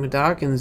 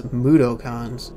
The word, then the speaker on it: Mudokon: I was also annoyed by the fact that Greg Miller kept mispronouncing Madokans as Mudokons.